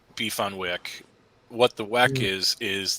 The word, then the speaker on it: beef on weck: thing but in Buffalo beef on Wick it's pronounced beef on Wick what the Weck is is the kimmelwick roll